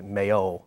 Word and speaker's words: Mayo: part of Ireland, county, we call it County Mayo, but over there they stress the first syllable, or the second syllable, Mayo.